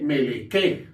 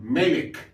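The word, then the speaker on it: מֶלֶךְ: hebreo Como por ejemplo aquí la palabra melek no se lee melque sino melek y esta palabra se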